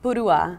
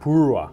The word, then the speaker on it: Purua: Purua. Purua. Yeah, Purua. It's the accent is at the end.